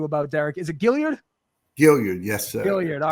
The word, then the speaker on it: Gilliard: Gilliard, yes, sir. Gilliard. All right. I've heard it pronounced different ways on different podcasts, so I just wanted to be sure.